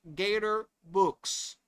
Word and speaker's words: Gatorbox: G A T O R B O X pronounced Gator books. Like books, right?